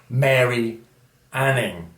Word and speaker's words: Mary Anning: Okay, and for 1 point, her name rhymes with fairy planning. Okay, any ideas? The answer is Mary Anning, who, as you remember,